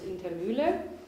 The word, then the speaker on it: Indermuehle: I'm very excited that today I can introduce Rick Spencer and Dawn Indermuehle. Actually, I would want to pronounce it the German way, which is Indermuehle.